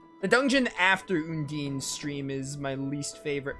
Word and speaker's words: Undine: it I've just gotten I've just gotten used to saying undeen so I say Union I know people say un DIN and undini it just depends all the Tails games they pronounce it I think they pronounce it differently in certain Tales games I know Mila says undeen so that's why I say